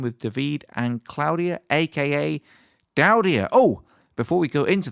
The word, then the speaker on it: Daudia: I'm here with Davide and Claudia, who are collectively known as Daudia. Have I pronounced that correctly?